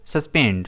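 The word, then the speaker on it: suspend: इसे हम प्रोनाउंस करेंगे सस्पेंड। इसमें स्ट्रेस सेकंड एस पर आएगा।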